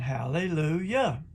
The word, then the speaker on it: Hallelujah: that's elijah and hallelujah hallelujah sounds funny it's pronounced elijah and hallelujah now psalm 68 4 king james version says